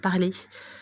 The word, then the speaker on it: Parler: Donc, grande nouvelle que l'avocat de Donald Trump, Lin Wood, vient de tweeter sur Parler, ou Parleur, hein, prononcez ça comme vous voulez.